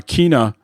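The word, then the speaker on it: Kena: did buy that uh kinah uh bridge of spirits i think yeah eric and i think i've been mispronouncing it and so it's like tino with the k kina okay i heard other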